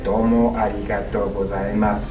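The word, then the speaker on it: どうもありがとうございます: that means don't or i should say it's pronounced domo arigato gozaimasu again you silent usually say it's slow it's not something you'd say my domo arigato gozaimasu ooh but when you say fast it's more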